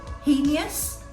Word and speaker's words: heinous: what did you say did you say heinous because that's a common mistake that many people make it's the